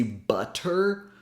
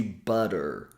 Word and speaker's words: butter: butter for example notice that we don't say butter we say butter we simply tap the tip of the tongue